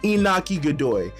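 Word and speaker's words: Iñaki Godoy: And even like, the cast of characters like Inagaki, I forget how to pronounce his name, Inagaki, or is it, let me see, let me look up his name real quick. Inaki Godoy.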